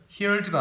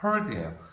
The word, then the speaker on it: heard: 그 다음에 hear, 발음 조심해야 돼요. heard가 아니라 heard예요.